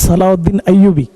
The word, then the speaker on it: সালাউদ্দিন আইয়ুবী: আমার নাম সালাউদ্দিন আইয়ুবী। আমি দুঃখিত, এখানে লেখা আছে ওইভাবে, হয়তো আমাদের লেখাতে একটু ভুল হয়েছে।